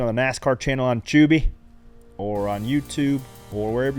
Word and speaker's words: Tubi: Tubi. It's Tubi with the No, T. it's Tubi. Tubi. Like chili chubbies.